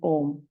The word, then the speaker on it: Om: So we chant the 3 syllables that form the sound Om. A, U, and the humming Ma.